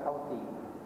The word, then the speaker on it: Houthi: Dia ejaan Houthi tapi baca Houthi.